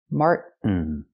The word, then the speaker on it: Martin: way to do it we can take the T and make it a stop T Mart stop the Air Mart and fall to the end Martin this is the most